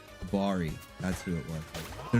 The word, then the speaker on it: Obari: Obari, that's what it was. Okay, I was missing a syllable there. Obari, that's who it was.